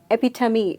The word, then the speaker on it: epitome: And epitome or epitome. Epitome is the right pronunciation. And I know most of us believe that it's epitome. So simple, you just have to break it into two syllables. And this one, the second syllable, is perhaps the easiest to pronounce because it means tummy, like our stomach, tummy.